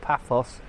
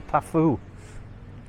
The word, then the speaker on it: Paphos: Various pronunciations you will hear, just like Paphos, which will go from Paphos to Paphou. So you'll hear people talk about Paphou, Paphos, Paphos.